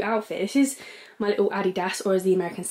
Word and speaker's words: Adidas: This is my little Adidas, or as the Americans say, Adidas. It's definitely Adidas, guys, sorry.